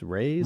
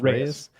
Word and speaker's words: Reyes: next opponent Chia Dominic how do you pronounce it rise raise r e y e s raise um I don't know